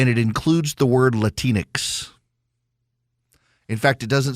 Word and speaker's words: Latinx: heck don't call themselves latinx rhymes with Kleenex they don't do it